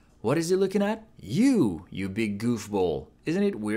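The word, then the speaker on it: よ: Yo is pronounced like yo in yo-yo. In British English, it's more like yo in yonder.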